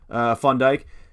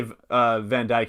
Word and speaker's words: Van Dijk: But yeah, he's Dutch, and that's how you say it's not Van Dijk. It's Van Dijk.